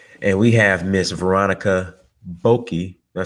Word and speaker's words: Boakye: and I've always said Boakye, but I never said her name to her. I call her Nana. So Boakye. Okay, got it. The Tree language, Vietnam language, KY is pronounced ch.